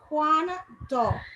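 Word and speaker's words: cuando: juan so we have juan do because we have the weak u and the strong a all right and you more you will more hear the a sound than the u sound then when you have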